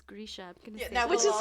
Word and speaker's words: Grisha: that was cool that it's like oh it's grisha yeah which is how i can see it